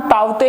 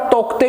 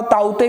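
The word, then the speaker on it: Tauktae: तो उसका नाम ताउते है, कुछ जगह पर तोकते भी लिखा हुआ होता है, तो ताउते भी आप कह सकते हो, उसमें कोई प्रॉब्लम नहीं है, ये सिर्फ मतलब प्रोनाउंसिएशन सेम है।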